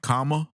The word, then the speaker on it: Kamala: you say her name comma love that's how you say her name exactly like comma c-o-m-m-a look cuz damn man